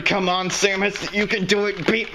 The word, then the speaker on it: Samus: Listen to how they pronounce her name in the game. See, they say Samus, not Samus.